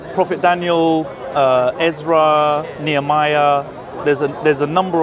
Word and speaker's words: Daniel: I think that's how it should be pronounced by Jews, and a lot of Jews mispronounce Really? Daniel. Yeah, the emphasis on the yel.